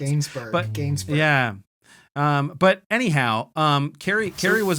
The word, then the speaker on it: Gainsbourg: And he's I guess Ginsberg is sort of how it's pronounced. Gainsberg.